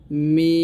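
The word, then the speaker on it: م: দূরত্ব সহজে উচ্চারণ করা সহজে মিম হরফটি পাতলা করিয়া চার আলিফ টা পড়িতে হবে মিম এরকম ভাবে উচ্চারণ করতে হবে তারপর হচ্ছে নুন নুন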